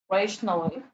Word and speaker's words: rationale: The actual pronunciation is rationale.